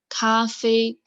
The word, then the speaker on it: 咖啡: This pronunciation is from coffee. 咖啡 like cafe.